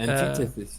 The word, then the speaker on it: antithesis: Uh, Antithesis, yeah. and Antithesis. yes, and this is on the second syllable, antithesis. Antithesis.